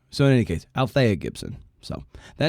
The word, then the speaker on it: Althea: last name, but I believe her name was Alethea. Oh, yes, Gibson. And I should say, it's Althea Gibson. I pronounced it wrong in the initial recording.